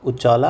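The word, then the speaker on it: Uccala: हर्षा जो था विद ह सन भोजा वर murdered and throne of Kashmir passed इनू the hands of princess उजाला एंड सुसाला। ठीक है? ऐसे ही प्रोनाउंस करते हैं इसको।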